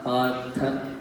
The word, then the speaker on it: Partha: It's not Rama, but it's Rama, Krishna, Partha, right? So make sure that you're saying the whole thing.